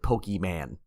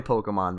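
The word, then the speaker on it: Pokémon: play video games when they pronounce it pokeyman that that's the kind of I don't even play pokemon I know how to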